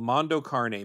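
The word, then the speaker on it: Mondo cane: was called which movie it was called Mondo carne but it's spelled c NE so it looks like Mondo Kane oh um 19 so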